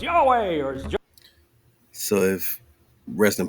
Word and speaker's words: Yahweh: means to exist the one who exists come Jehovah Jehovah I've kind of gone through all of